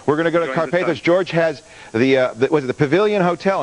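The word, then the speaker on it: Karpathos: Carpathos.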